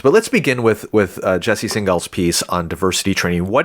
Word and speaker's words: Singal: Singal, yes.